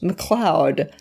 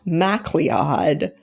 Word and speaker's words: MacLeod: His name is pronounced MacLeod, not MacLeod.